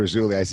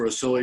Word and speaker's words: Rasouli: Rasouli, and they say, what's his name? I say, it rhymes with Fazuli, even though it's spelled different.